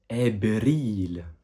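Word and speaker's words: أبريل: Parce qu'en fait, dans l'alphabet arabe, il n'y a pas la lettre V. Donc ici, en l'occurrence, on l'a remplacé par B. Répète après moi le mot abril.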